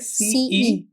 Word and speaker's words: pumice: While writing you can say this in your head. Pumice. PUMICE. But you say pumice.